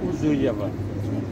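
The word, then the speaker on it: Ouzouev: C'est Ouzouyev. Ça s'écrit aussi?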